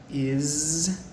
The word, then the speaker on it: is: a problem with pronouncing is and it so we are going to look at this a little bit first word is spelled I s first the s actually sounds like a Z so if you listen